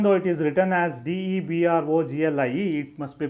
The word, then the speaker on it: de Broglie: If it gets accelerated under a potential difference, according to de Broglie hypothesis, this electron can be thought of as a wave, as a matter wave of this wavelength.